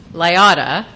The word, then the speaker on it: Liotta: Liotta rhymes with Iota.